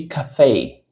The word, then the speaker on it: café: Aqui, ó, tem a pronúncia de café.